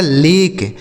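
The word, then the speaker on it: lake: ई इसे पढ़ा जाएगा लेक एल ए के ई लेक देखिए इ का उच्चारण यहां नहीं निकल रहा है आगे एम ए के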